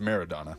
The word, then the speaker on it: Maradona: That's Maradona. It's pronounced Maradona.